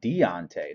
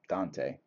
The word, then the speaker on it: Deontay: that freaking name man deontay i'm sorry deontay not dante there's some really good